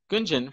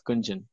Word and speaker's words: Gunjan: I know, the other day I was talking to Gunjan from Inokator, India, and I would always say her name Gunjan. And she was like, it's not Gunja, it's Gunjan. And I've been calling her that for a year.